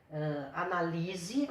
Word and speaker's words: analise: Agora, só para dar uma parte aqui, olha a diferença. Analise, a sílaba tônica está aqui. Receberá, a sílaba tônica está aqui. Secretaria, a sílaba tônica está aqui. Mudando a sílaba tônica, muda o sentido da palavra, tá?